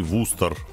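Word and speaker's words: Worcester: Это Даллас, Хелена, Сиэтл и Вустер. Действительно, именно так он и произносится, что нам говорит наша Даша.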